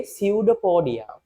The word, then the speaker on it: pseudopodia: P is silent පුතේ pseudopodia.